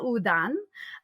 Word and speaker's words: Houdin: Rober Udan uh but it's the second part of his hyphenated last name is spelled h o u d i n so uh to us it would kind of look like hudin or Howen um and Eric at